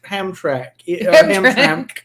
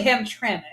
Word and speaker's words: Hamtramck: right ham track yeah yeah what is it really though it's actually Hamtramck so you have to say it there's vowels in there that don't exist there's vowels that don't